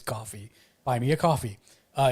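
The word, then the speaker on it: Ko-fi: co it's called coffee i thought for a long time was kofi and then i realized it was coffee buy me a coffee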